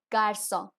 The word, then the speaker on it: garçon: So the first one is garçon, that is boy in French, garçon. So the pronunciation is G, A, R, C, O, N, garçon.